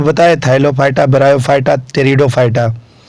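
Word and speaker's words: Pteridophyta: पहला है थाइलोफाइटा, सेकंड है ब्रायोफाइटा और थर्ड है टेरिडोफाइटा। टेरिडो को पी टेरिडो से लिखते हैं, पी शुरू करते हैं, जो साइलेंट होता है।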